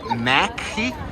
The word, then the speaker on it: McDonald's: This is called Mackie, which is the way they pronounce McDonald's.